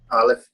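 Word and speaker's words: אלף: Aleph. Aleph. Nice. So ayin and aleph sound the same.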